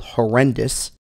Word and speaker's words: HoRNDIS: a op Source utility called horrendous although it's spelled a little differently by Joshua wise so